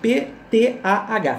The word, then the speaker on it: Ptah: Se escreve P-T-A-H, Ptah.